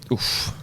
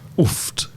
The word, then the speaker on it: oooft: Oof. Oofed. I don't say T at the end. You wouldn't say the T? No, just oof.